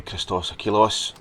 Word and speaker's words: Christos Achilleos: This one's done by Christos Achilleos. As I said before, we pronounced that right, or Chris Achilleos.